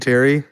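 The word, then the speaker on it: P. Terry's: The P is silent. We're supposed to be saying Terry. It's just Terry.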